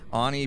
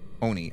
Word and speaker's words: Oni: Ani are non-normal Blinky Ani Blinky fast Oni I keep saying it wrong sorry making people mad